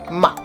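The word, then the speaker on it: 吗: get even crazier then you have the neutral tone where it's almost not even pronounced ma this is a question particle it's like putting a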